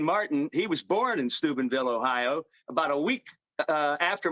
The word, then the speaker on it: Steubenville: But boy, I come from Steubenville, Ohio. That's where I was born in Ohio. That's how you say it.